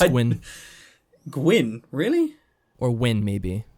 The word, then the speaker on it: Nguyen: I think it's Gwyn. Gwyn, really? Or Win, maybe. I think it's just Win, actually. That's how you pronounce it. Win. I'm not an expert, so don't quote me on that.